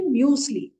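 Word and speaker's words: Müsli: In that, in Germany, they will say muesli.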